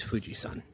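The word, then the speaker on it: 富士山: Well, the thing is that the same character can be read two different ways. It can either be read as Yama or Sun. That's why it's Fuji-san. Sun is the more traditional pronunciation.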